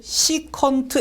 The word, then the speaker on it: sec: secx 이거를 시컨트 x라고 읽고요.